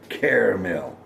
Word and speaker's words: caramel: To me, the correct pronunciation is caramel.